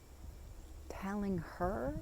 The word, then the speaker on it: Talinghar: your name say again telling telling her like spell t a l i n g h okay okay telling r telling her is that how you pronounce it okay all right what's